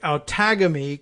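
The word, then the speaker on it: Outagamie: It's Outagamy, like autogamy. What do you think it is?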